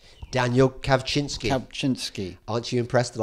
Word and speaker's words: Kawczynski: Next up, you had our wonderful British but Polish-born MP Daniel Kaczynski. Daniel Kawczynski. Kawczynski. Aren't you impressed that I can pronounce his name?